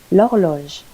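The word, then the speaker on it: l'horloge: La lump the lamp Lodge the clock silent h Laurel la televisio La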